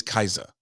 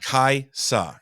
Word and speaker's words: Kaisa: wife's name it's always kaisa like with a z I'm like there's an S it's not hard it's just really is silent kaisa it's not hard I